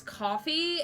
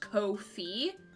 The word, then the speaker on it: Ko-fi: on their website that it's pronounced ko-fi. Like, ko, and then fee, as in, like, you have to pay this fee.